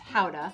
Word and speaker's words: Gouda: actually takes its name from the town of gouda which is actually pronounced hauda young gouda tends to be creamy and buttery